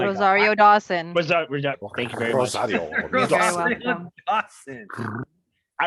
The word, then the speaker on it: Rosario Dawson: uh what's her name rozio rosiodaro i'm saying her name wrong oh rosario dawson thank you very much